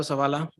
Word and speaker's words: Zavala: hear me yes oh I want to start by saying my name my name is Savala I'm a paraprofessional I'm